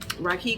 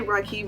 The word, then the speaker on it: Reiki: cleanses and baths regularly, Reiki cleansings. I say Reiki because I was looking it up, and that's how they originally pronounced it, and I think it's cuter than Reiki.